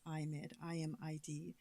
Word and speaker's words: IMID: And the acronym, such a long name, we pronounce as IMID, IMID.